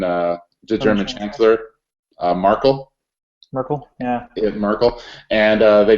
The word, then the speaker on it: Merkel: uh how how do you how do you pronounce her name the the the German uh the German Chancellor marle Merkel yeah Merkel and uh they duplicated her fingerprints